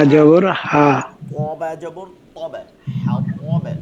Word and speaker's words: الحطب: জবর হা হা, জবর হা, তবে জবর তবে, হাও তবে, ত কোনটা হরফ হচ্ছে তা না, কিন্তু ত, হাতাব বলা যাবে না, হাও তব বলতে হবে, ত ত।